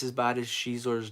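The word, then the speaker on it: Xizor: You know, let's see if it's as bad as Shizor's name. Uh, at least, well, I'm saying you pronounced it right. I pronounced it right. It's Zizor or Zizor.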